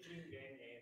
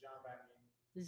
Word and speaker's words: Jean Vanier: Yeah, it would be Jean Vanier if you're going with the English pronunciation, but Jean Vanier.